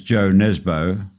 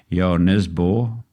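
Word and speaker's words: Jo Nesbø: forth writers such as Jo Nesbo or pronounced in his homeland of Norway as yarn is bought with apologies for my pronunciation anyway Jo is a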